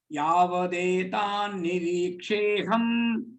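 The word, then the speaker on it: यावदेतान्निरीक्षेऽहम्: Yavatetan Nirisham. Yavadetan Niriksheham. Yavatetan Niriksheham. Here, ta becomes da.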